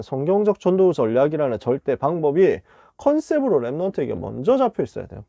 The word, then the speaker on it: 컨셉: 첫 번째는 컨셉을 갖춰야 되겠습니다. 컨셉트라고 썼는데 읽는 거는 영어식으로 컨셉 이렇게 읽으면 되잖아요.